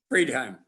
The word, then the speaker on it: Freidheim: you very much robert now is it freedheim or friedheim i'm sorry free time free time okay very good now after mispronounced that's based on the spelling it should be either friedheim or freed you know free time okay i don't